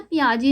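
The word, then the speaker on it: Piaget: एक बार इस टर्म इसको पढ़ो, आपको लगेगा कि यार ये तो पियाजेट लिखा है ना, पियाजेट, पर the correct pronunciation is पियाजे, okay. इसको पियाजे बोलना, इफ़ यू आर in psychology, भाई पियाजेट मत बोलना, भगवान के लिए पियाजे बोलना, and keep this in your mind, he इज पियाजे।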